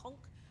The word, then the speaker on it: conch: It's called a conch, but the British say a conch.